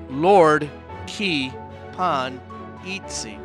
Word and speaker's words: Lordkipanidze: David Lordkipanidze, father of Caucasus archaeology, pronounced Lord Ki Pan Itzi.